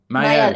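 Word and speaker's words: Maelle: I don't know how to pronounce Mael. Mael.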